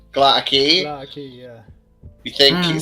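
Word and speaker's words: Gla'aki: Is that the right pronunciation? Glatakei.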